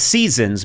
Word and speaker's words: SZNZ: It's spelled, it's Seasons, but it's SZNZ.